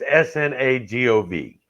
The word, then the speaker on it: Snagov: And he is supposedly buried, and I'm going to butcher this word. I want to say it's pronounced Snagov Monastery. It's Snagov. He is believed to be buried there.